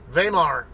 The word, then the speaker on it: Weimar: Texas or Weimar or waymar however they pronounce it it's it's a German word though vemar W's are pronounced like a v in German so that's why I